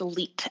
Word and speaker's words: Leet: s o n and my last name is Elite l e t uh and you can find